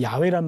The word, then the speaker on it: 야훼: 제가 지금 여호와라는 말이 나오면 항상 야훼라는 말로 바꿔 부르고 있어요. 네. 그렇죠? 여러분 시청자분들도 좀 궁금해하실 분도 있을 것 같은데 여호와라는 말보다는 야훼라는 말이 원어에 더 가까운 발음이에요.